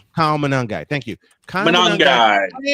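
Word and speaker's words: Monangai: In fact, the Bears had both uh I can't pronounce the fellow's name. Kyle Manangai. Kyle Manangi.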